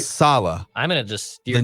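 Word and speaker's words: Saleh: for it robert sala salah all right salah i'm going to just the new head coach phonetically the pronunciation that i found is capital sal hyphen small you what what what would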